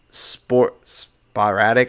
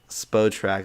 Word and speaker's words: Spotrac: I have Sporadic. I can never pronounce the name of this website. If you can, please help me out there. And I have all the unrestricted free agents. Spotrac, there you go, perfect.